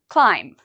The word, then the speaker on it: climb: to listen for the pronunciation climb is there something in here we don't pronounce climb if you said B we do not pronounce the b you are correct what